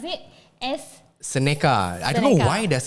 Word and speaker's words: Seneca: And then the next project, please pronounce it as Seneca.